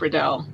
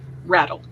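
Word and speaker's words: Raddall: canadian writer named thomas riddell um rattle i think is how he pronounced his name he was a nova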